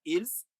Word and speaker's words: ils: S is silent. I mentioned it for you to understand that the difference between il, which is the E, and ils, which is a they.